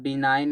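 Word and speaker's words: benign: बिनाइन में जी silent होता है।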